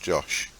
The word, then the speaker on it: Joseph: It's spelt Joseph, it's pronounced Josh.